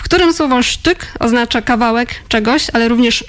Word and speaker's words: shtick: Wydało mi się takie naturalne, że to będzie the sztyk, a nie styk.